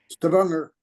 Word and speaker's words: Stavanger: This is how do you pronounce this, Myrna? It's Stavanger.